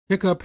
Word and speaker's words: hiccup: Hiccup has the sound of cup.